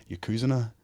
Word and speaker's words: Yokozuna: He's trying to be going for Yokozuna, although I found out recently it's pronounced Yokozuna. Right, okay. Not a Yokozuna, so you're learning.